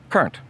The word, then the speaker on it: Kurnt: And while we're on the subject here, my last name is Kurnt, and it is German, and it's actually pronounced Kurnt.